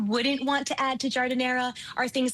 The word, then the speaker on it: giardiniera: Do you say giardiniera or gardenere? We say giardiniera. Giardiniera is fine, but giardiniera is the Italian pronunciation.